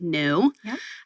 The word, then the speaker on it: Nxu: motor vehicles and now the company is nxu pronounced new um so they're going